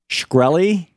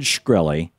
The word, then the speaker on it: Shkreli: That was Martin Shkreli, I think it's pronounced, S-H-K-R-E-L-I.